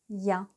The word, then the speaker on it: я: et la voici et est ce que vous vous rappelez comment s prononce donc elle se prononce dia ya donc ça fait partie